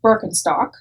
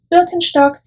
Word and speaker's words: Birkenstock: how to say birkenstock but you're probably saying birkenstock which again is an americanized version of the actual german name birkenstock is how we would pronounce it in germany now birkenstock has been